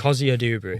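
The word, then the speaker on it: Cozier-Duberry: It's Kio Dubrey. Kio Dubrey. There we go. I'm not a pronunciation god.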